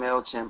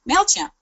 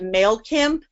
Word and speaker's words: MailChimp: And because the kid mispronounced MailChimp and called it MailKimp, there's a whole MailKimp account.